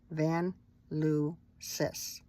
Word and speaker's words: Vanlusis: Van Lucis. Like sis, like in sister, right? So Van, V-A-N-L-U for Lou, and then sis.